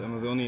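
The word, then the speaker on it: Amazone: Yes, Amazoni is the Amazoni is the pronunciation we choose in English, or the company chooses in English.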